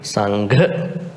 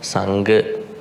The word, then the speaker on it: Sangha: So when you pronounce, it has to be Sangha, not Sangha.